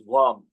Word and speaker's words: Vam: Then for your Swadhisthana chakra, it is Vam, V-A-M.